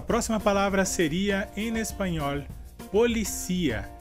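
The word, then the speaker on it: policía: Nossa próxima palavra seria, em espanhol, policia, e em português seria polícia. Nesse caso, a palavra em espanhol tem a sílaba mais forte como si, e no português a sílaba mais forte seria li.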